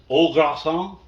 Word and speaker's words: au gratin: Mom, how do you pronounce the au gratin? Au gratin. Au gratin? Yeah. Because it's Au- French.